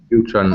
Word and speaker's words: neutron: word about pronunciation actually with those particular words Neutron proton electron we actually emphasize the on at the end of the word a little bit more yeah Neutron at yeah exactly um